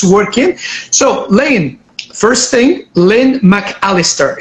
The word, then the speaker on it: Lynne McAlister: so Lan first thing ly McAlister is am I pronouncing your name correct yes that's right okay wonderful Galahad so